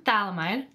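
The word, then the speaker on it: phthalimide: reactor called potassium phalam potassium phthalamide the second p is silent looks like this it's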